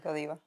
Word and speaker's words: Godiva: that's like, is it Godiva? How do you say it? Yes, Godiva.